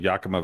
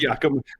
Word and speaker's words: Yakima: I got the It's Yakima. It's Yakima, not Yakima. It's actually the Y is silent. It's just Akama.